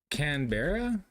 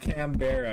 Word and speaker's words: Canberra: It's Canberra. It's not Canberra. It's Canberra.